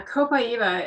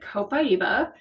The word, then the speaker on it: copaiba: do you pronounce it it's got a lot of extra vowels in it um I pronounce it copaiba um some people pronounce